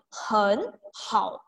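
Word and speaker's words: 很好: Pas kita baca hen hao, si hen ini akan harus berubah menjadi nada 2. Jadi dibaca hen hao.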